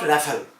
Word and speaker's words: Rafale: The short Rafale, French pronunciation Rafale, literally meaning gust of wind